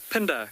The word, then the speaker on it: Pinda: gypsy you're asking where pinda got its name from gypsy pinder or i think more correctly pronounced pinda is the isizulu word